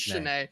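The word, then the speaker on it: Schoen: Saturday night because uh they kept saying schne and I was like look at these idiots in the Press Box I don't even know the name of the guy and then I check the pronunciation gut and I'm like oh my gosh I'm wrong it is Chen that's so tough I'm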